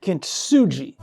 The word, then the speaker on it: Kintsugi: Kin as in family, ji. Kintsugi. Kintsugi.